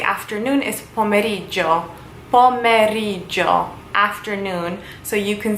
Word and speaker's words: pomeriggio: But basically how you say afternoon is pomeriggio.